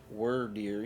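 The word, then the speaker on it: Wyrdeer: such as cleavor and were deer we I guess that's were deer yeah I said it right like a worm foreign is that all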